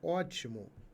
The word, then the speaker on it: ótimo: o fato do iato a palavra ótimo ó ti mo o que motiva acentuação ó última sílaba mo penúltima sílaba ti antepenúltima sílaba o é a sílaba tônica então Aqui nós temos